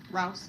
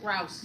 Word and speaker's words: Rouse: Am I pronouncing it right? Is Rouse. Rouse. Yeah.